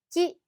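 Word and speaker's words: qui: 자 , 'yo' 에 대해 말씀 드리자면 , 'wi' 가 있기 때문 에 발음 이 이렇게 들릴 것 같지만 , 'wi' 는 발음 하지 않는다 고 생각 하시면 됩니다 . 그냥 ' 기 ' 라고 하면 됩니다 .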